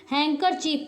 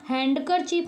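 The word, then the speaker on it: handkerchief: लिखा है हैंड करर तो डी इसमें साइलेंट होता है क्या पढ़ते हैं हम लोग हैंकर चीफ पढ़ते हैं है ना हैंड करर चीफ नहीं पढ़ते हैं क्या पढ़ते हैं हैकर चीफ पढ़ते हैं और डी इसमें क्या है साइलेंट है जैसे न साइलेंट है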